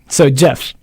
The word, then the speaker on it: Geof: In No, in his case it's spelled G E O F. Yeah. So Jeff.